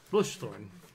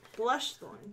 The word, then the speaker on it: Blushthorn: Bushthorn. Blushthorn. Bushthorn. Blushthorn. That's an L.